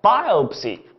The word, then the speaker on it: biopsy: 叫做 biopsy 啊， biopsy， biopsy，什么叫 biopsy？